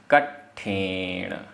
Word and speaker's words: कट्ठेण: धरेदि, धरेदि, कट्ठेण आधा टा ठा, कट्ठेण, कट्ठेण।